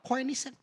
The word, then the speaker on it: Koenigsegg: Gue baru tahu cara bacanya kemarin. Apa? Koenigsegg.